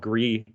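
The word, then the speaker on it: Gris: one thing i recommend it's it's spelled g-r-i-s i i think it's spanish because it was from a spanish developer but the game is called gree i highly recommend thank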